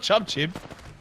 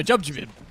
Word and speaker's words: Jubjabib: How do you say that one, Genome? Jubjabib? No, not Chubchib. No, Jubjabib.